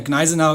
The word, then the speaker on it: Gneisenau: cogniser now she has by the way Ignasi now is how you pronounce it I'm German I know no bias here so she